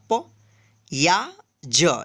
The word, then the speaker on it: प्याज: यहाँ पे देखिए आधा प या ज, इसको पढ़ेंगे प्याज। प्याज नहीं पढ़ेंगे, क्या पढ़ेंगे? प्याज। यानी जहाँ पे भी आधा अक्षर रहे उसका जो हम उच्चारण करेंगे जल्दी करेंगे।